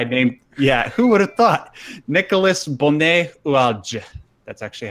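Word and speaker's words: Nicolas Bonnet-Oulaldj: Nicolas Bonnet-Oualge. That's actually how it's pronounced.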